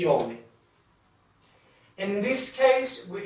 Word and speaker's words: homem: In Portuguese, we don't pronounce this letter, so it's quite neutral. For example, here it's the Portuguese word for human. We say humano, humano. It's like you don't pronounce it, so it's like you start pronouncing from here.